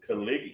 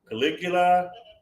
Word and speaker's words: Caligula: Said, "Uh, the Caligula, the guy's name is Calig." She can't even pronounce it. Caligula.